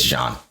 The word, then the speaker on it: Jean: which his name is Jean I think uhhuh yeah when he first gets there he is it John or Jean it's John okay it's spelled like Jean but it's pronounced John mhm it's French yeah